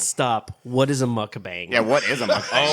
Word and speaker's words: mukbang: I've Yeah, I think it's pronounced mukbang, but I could be very.